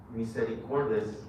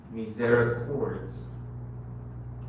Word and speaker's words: misericords: Misericordes would be in Spanish. Misericords would be more of an English alternate pronunciation.